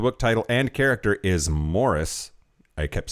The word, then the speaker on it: Maurice: I believe the generally accepted pronunciation of the book title and character is Morris. I kept saying Maurice because that's how it was fucking spelled.